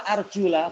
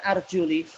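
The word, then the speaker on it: أَرْجُلَ: Baik, kenapa arjula bukan arjuli? Kalau arjuli berarti dia majrur, berarti apa? Ma'tuf kepada kepala, yaitu kaki diusap. Betul nggak kaki diusap? Tak betul, yang betul dicuci. Makanya bacanya memang arjula, dan itu qiraah asyarah, semuanya pakai arjula, yaitu mansub.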